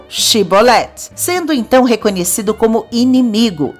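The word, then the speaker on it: שיבולת: Então diga Shibolet. E por mais que tentasse, o pobre do efraimita só conseguia falar Sibolet, e não Shibolet, sendo então reconhecido como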